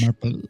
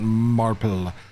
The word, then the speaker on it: Marple: It's not Marple. It's a name, Marple. It's the Marple Branch group Marple. that runs the Marple Marple. Branch Pub. You gotta say it like that.